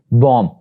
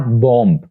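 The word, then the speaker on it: bomb: बता चुका हूं कि अगर किसी वर्ड के आखिर पर बी है और उससे पहले एम है तो B will be silent there, like this बॉम्ब, नॉट बॉम्ब।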